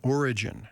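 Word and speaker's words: Origen: writings of uh the early Church Father uh origin whose name is spelled with an e at the end not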